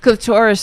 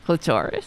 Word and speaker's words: clitoris: how you say it clitoris sounds like somebody's name right clitoris I know how you say you know you could say it either way it's like potato potato but that's what he